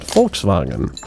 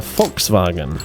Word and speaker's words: Volkswagen: Uh I know you guys over there call it Volkswagen, but it's not really how it's pronounced cuz it's Oops. No, no, I don't want that. It's a fox wagon because you know that's the German word.